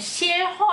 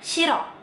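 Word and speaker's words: 싫어: Nah, tapi kalau dia ketemu sama huruf vokal, dia bukan dibacanya jadinya shilho ya, bukan ya. Jadi huruf R kalau ketemu sama H, terus ketemu sama huruf vokal, H-nya tuh bakalan antara ada dan tiada seperti yang aku jelasin di video pertama aku di 30 Days Challenge ini. Jadi, dia dibacanya shiro.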